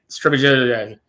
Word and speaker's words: Strbjak: I always mess with him because his last name's spelled like Strbjak, like Strebajak.